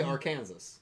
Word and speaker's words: Arkansas: And how do you say Arkansas? Right, that's the issue. So No, I'm no, trying it- to change that. Oh, So I say Arkansas.